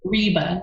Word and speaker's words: Ryba: love that no no it is name is Reba yes Rea thank you I think it's so